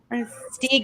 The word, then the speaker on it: Stieg: I've heard people say Stig. I don't know what's the correct. Stieg. How do you pronounce it? Stieg. Is it Stieg is actually correct. Stieg is correct. It's Stieg.